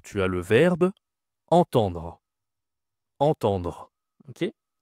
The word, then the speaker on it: entendre: Entendre. OK. Attention ici entendre c'est une nasale.